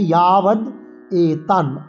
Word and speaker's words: यावदेतान्: ইয়াবদ এতান, ইয়া অন্তর্য ইয়া করে উচ্চারণ করব এবং অন্তর্য আকারে আমরা একটা দীর্ঘস্বরের মাত্রায় টান দেব। ইয়াবদে ইয়েতে টান দেবো। ইয়াবদে তান, এই তাতে টান দেবো।